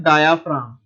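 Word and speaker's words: diaphragm: इसे हम क्या कहते हैं जी, इसे हम कहते हैं डायाफ्राम। स्पेलिंग में जी भी आता है, लेकिन जी आपने लिखना है लेकिन बोलना नहीं है।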